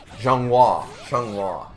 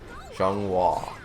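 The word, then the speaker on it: Xianghua: Zhonghua, yeah. The X always screws me up because I'm like, how do I pronounce this again? Zhonghua.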